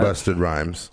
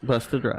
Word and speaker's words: Busta Rhymes: dragon, and it was Busta Rhymes. Okay, see, just like the guessed name that. Busted Rhymes, Busta Rhymes. right? Busta Rhymes. You gotta. That's the way you have to say it.